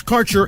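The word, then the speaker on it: Kaercher: cannabis Insurance Services is spelled k a e r c h e r that's carer insurance we have worked with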